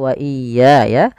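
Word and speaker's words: وَإِيَّايَ: Qolilan wah qolilan wah ya qolilan wa iyaya pada lafal wa iya ya ini juga harus di tekan huruf ya ini sering terjadi kesalahan juga wa iyaya fattaquun ya mad thabi'i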